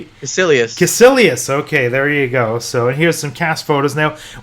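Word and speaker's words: Kaecilius: Do you remember how they pronounce the villain's name? Caecilius.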